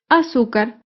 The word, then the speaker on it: azúcar: penúltima sílaba por ejemplo la palabra azúcar azúcar es una palabra grave y se acentúa en la penúltima sílaba azúcar las palabras graves